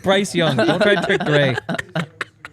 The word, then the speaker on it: Bryce Young: Well, all these you dudes guys know have Breesy different Campbell or Breesy Young, the number 1 overall pick. No, that's not how you say it. It's Bryce Young.